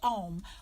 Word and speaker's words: Aum: of your mouth and because that's why why it's spelled AUM even though we say ohm AUM the mouth is not in an O it comes from the back of the mouth rolls forward on your tongue into an M Oh